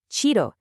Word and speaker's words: chido: Let's listen to those pronunciations. Chévere, chido, genial.